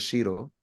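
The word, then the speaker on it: Cheiro: The father of English numerology, Cairo, some people pronounce it as Shiro.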